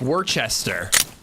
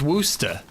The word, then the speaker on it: Worcester: It's Worcester. It's spelled like Worcester, but it's Worcester.